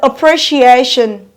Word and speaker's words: appreciation: called the australist the the first syllable is unstressed so it's taking the australian syllable the second syllable pre is taking a partial stress or partial force called secondary stress the this the third